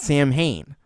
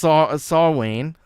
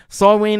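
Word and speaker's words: Samhain: shouldn't say that but it's not pronounced the way you would think anyway it's a big digression for me S um saw say almost did it force of habit saw Wayne is my very short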